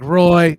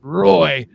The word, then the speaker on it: Roy: it's just because Patrick Roy yeah I know it's pronounced wall shut up Roy was